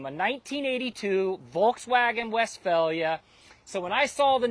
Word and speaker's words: Westphalia: region of Germany called Westphalia although it's not spelled with an F it's pH and it's a little